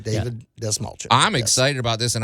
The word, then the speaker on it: Dastmalchian: way to say Dave D small chin think of small chin Dave has a small chin David D small chin I'm excited about this